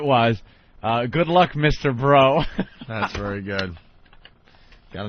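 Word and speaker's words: Breaux: found their baby and their last name is like b r e Au u x you know how that's pronounced down there bro bro bro and he actually said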